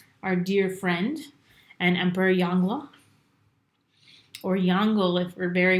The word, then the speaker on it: Yongle: I was looking at some things up about how to pronounce it. So, Yongle.